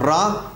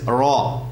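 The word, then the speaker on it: ر: the this in arabic you don't roll the ra as in english in arabic it is not ra but it is raw raw you take your tongue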